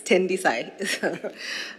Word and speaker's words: Tendisai: Thank you so much, Emilia, and no worries, you pronounced it almost perfectly. It's Tendisai.